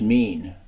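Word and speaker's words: מין: The Hebrew word for kind is O-I-N, pronounced mean.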